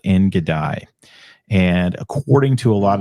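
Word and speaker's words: En Gedi: Yeah, I don't know about the I pronounce it En-Gedi, but I actually participated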